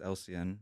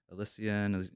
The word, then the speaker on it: Elsian: doesn't stand for anything. It's just how my name's pronounced. Oh. So my real name is Elsian. It's spelled Elsian. Mhm. But then in school, like my teachers would pronounce it wrong. My classmates pronounce it wrong. They say Elsian, and I was Mhm. just like, okay. So I just started writing it as.